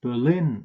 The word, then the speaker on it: Berlin: it's Cambridge that can the German capital is pronounced Berlin in English but there's also town in New Hampshire which is pronounced or stressed Berlin but the the Germantown is usually pronounced Berlin there are number of